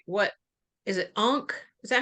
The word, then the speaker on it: Ankh: Ankh? Is that how you say it? Ankh? Uh-huh. Ankh.